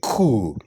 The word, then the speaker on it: coup: Cesar of power from a government it's a coup all right the opposition planned a coup all right number nine how do you pronounce that that is very common pronounce it